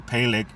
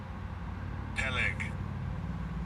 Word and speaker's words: Peleg: Peleg. Peleg. So they pronounce it Peleg.